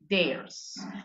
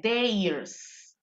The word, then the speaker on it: theirs: The bicycle is theirs. Otra pronunciación. No se dice theirs. Se dice con E nada más. Theirs.